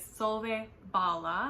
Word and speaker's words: Solvej Balle: This is by SV Bala, I believe. I I looked up the pronunciation in multiple places and the one I found most consistently is SV Bala.